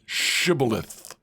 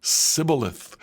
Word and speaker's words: shibboleth: tell him to say shibboleth if he was from Ephraim he would say sibilith because people from Ephraim cannot pronounce the word correctly then they would take